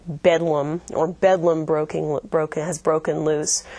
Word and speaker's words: Bethlehem: You may have heard of the term that something is like bedlam, or bedlam has broken loose. That's a reference to the hospital of Bethlehem Hospital, which is pronounced Bedlam.